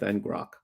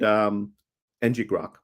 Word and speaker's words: ngrok: And it allows for live collaborative code editing via an integration with ngrok and nggrok. No, ngrok. I did say it right the first time.